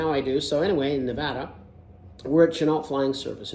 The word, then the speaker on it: Nevada: that by the way it's not Nevada they they told me right away nuh you're in Nevada not Nevada I'm like oh okay